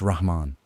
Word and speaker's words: Rahman: It's rahman like rah, not ram.